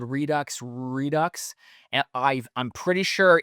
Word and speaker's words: Redux: Redux. And I I'm pretty sure it's Redux. three redux cuz I thought, "Ooh, it's actually pronounced redo redo the X's silent."